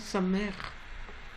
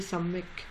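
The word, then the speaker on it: סמך: Et ça se prononce Samer. Et pas comme une personne que j'ai entendue qui disait sa mec. C'est pas sa mec, sa mère. Sa mère. C'est un R roulé.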